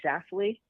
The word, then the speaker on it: Schlafly: Is it Shuffly or Schlafly? I can never pronounce Schlafly. Okay, so Schlafly. Schlaf. I've had. You got to get that Schlaf. Schlaf. Yeah. Like a slap it in the face.